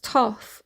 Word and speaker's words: Thoth: Oh, Thoth pronounced Toth, also known as Tahiti,